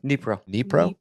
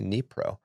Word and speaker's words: Dnipro: I'm sorry, Dnipro. Okay, thank you. The D is silent. Is silent. Okay, Dnipro, which is part of the old Russian Empire in 1831.